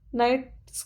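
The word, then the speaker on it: knights: नाइट्स किसको बोलते हैं, अब ये बताइए। इसका के साइलेंट होता है, ध्यान रखिएगा, इसलिए से नाइट्स।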